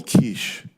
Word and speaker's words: Kizh: for thousands of years they were called the kich it's pronounced k i z h and uh I